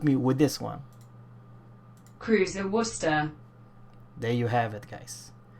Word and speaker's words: Worcester: And it's kind of hard to pronounce, but I put the, Google Translate to help me with this one. Cruiser Worcester.